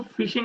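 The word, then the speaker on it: phishing: मछली आके फंसे, उसको फिशिंग अटैक बोलते हैं सर। कई लोग उसको पुशिंग अटैक भी बोलते हैं, गलत प्रोनाउंस करते हैं।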